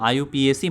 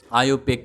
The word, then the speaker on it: IUPAC: और हाँ, आयुपीएसी मत बोलना, ठीक है, इसका प्रोनाउंस आयुपेक किया जाता है, गलती नहीं करना है।